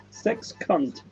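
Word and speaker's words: zeskant: And Michael says, in een sekskant. Sekskant, lol. I didn't think of that. It's rude. It's rude in English. Sex cunt. But that's exactly how you pronounce it. Sex and cunt.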